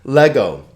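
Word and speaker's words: λέγω: Lego. Le-go, right? 2 vowels, 2 syllables.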